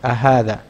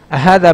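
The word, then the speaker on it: أهذا: Ahadha. It's also for asking. Hamza with a fatha over it. Okay. Which is pronounced as a.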